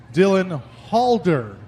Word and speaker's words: Halder: Dylan Halder in the 24H, starting shotgun on the field.